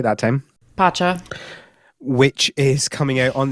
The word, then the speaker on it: Pacha: Pacha.